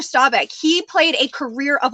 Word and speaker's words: Staubach: I do this but I mispronounce his last name all the time it's actually a Roger Staubach he played a career